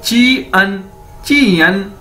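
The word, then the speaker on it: 见: इसको कैसे बोलेंगे, जा, इसको बोलेंगे जाए, JI को ची, JIAN हो गया तो इसको कैसे बोलेंगे, चियन।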